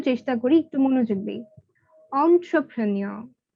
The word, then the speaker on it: entrepreneur: Entrepreneur, entrepreneur, not entrepreneur.